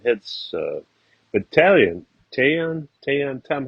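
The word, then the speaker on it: Taillon: But Tayon, Tom, how do you say that? Tayon, yeah. Tyon. Dave, like tie one on.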